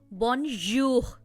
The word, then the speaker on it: bonjour: इस वर्ड में जहां पर जे आ रहा है उसको हम ज नहीं करेंगे प्रोनाउंस, उसको हम प्लेजर में जो साउंड आ रहा है बीच में, प्लेजर, ज, बॉनजूर, ये वाला साउंड है।